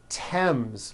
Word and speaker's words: Thames: Although these next words and names are spelled with a TH, they are pronounced as if they were spelled with a normal T, like that. And these words are Thomas, Thompson, Teresa, Thailand, Thames, like the river, Esther, and thyme, which is a spice.